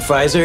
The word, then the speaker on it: Pfizer: did piper and vicky if there was a p in front of pfizer it'd be pronounced puffizer but nice try just